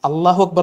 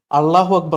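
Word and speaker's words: الله أكبر: ഇങ്ങനെ വിളിക്കുന്ന സമയത്ത് തന്നെ അയാളുടെ ഉച്ചാരണം ശരിയല്ല അല്ലാഹു അക്ബർ എന്നാണ് പൊതുവെ മുസ്ലിങ്ങൾ പറയാ അള്ളാഹു അക്ബർ എന്നാണ് പുള്ളി പറഞ്ഞത് അപ്പോ അല്ലെങ്കിൽ അല്ലാഹു അക്ബർ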